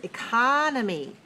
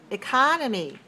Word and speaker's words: economy: six the word is economy economy has four syllables and it's dressed on the where where is its dress can you tell help me please two okay watch me economy show me economy good i want to